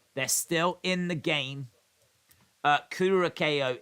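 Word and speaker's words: Curaçao: Curacao is pronounced Curacao. Curacao. Like the female pig.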